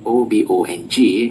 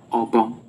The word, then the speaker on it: Obong: For instance, spoken with the two syllables at the same pitch level, Obong, it will mean mosquito. Spoken differently, Obong, that will mean a cane used in flogging.